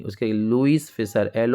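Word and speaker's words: Louis: यह लिखा गया है लुईस फिशर लुई याद रखना स्पेलिंग लुई फिशर ये इन्होंने एक बुक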